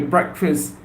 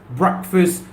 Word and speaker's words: breakfast: you all had your breakfast I'm talking about the first meal of the day breakfast breakfast breakfast remember the correct pronunciation is breakfast well it's not break fast break fast no it's breakfast breakfast breakfast breakfast have